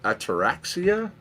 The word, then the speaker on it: Ataraxia: I think the pronunciation of that one is ataraxia.